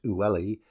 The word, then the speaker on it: Uli: Seda is supplied with water from the river Uli, pronounced Ulli, a portion of which